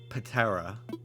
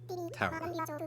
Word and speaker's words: ptera: Patera. Terra. Like pterodactyl. The P is silent.